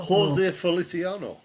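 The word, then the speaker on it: José Feliciano: Yeah, and I can never pronounce his name. Holisio, no. Jose Feliciano.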